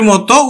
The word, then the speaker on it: মতি: রস্বই পায়, যদি দীর্ঘই পায়, যদি রস্বও পায়, যদি দীর্ঘও পায়, তাহলে কিন্তু ও এর মতো উচ্চারিত হবে।